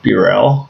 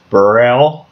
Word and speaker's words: Burrell: who I am Burrell that's how it's pronounced Bureau b-u-r-r-e-l-l the U is long a lot of people say this Braille I don't think anybody